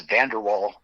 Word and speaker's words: van der Waals: I mean, it's van der Waal. The last word is spelled W-A-A-L, if you'd like to look it up.